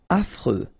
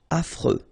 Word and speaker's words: affreux: Affreux. Final X not pronounced. And then you've got this fr. Freux. Affreux.